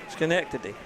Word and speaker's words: Schenectady: Can you pronounce that? Schenectady.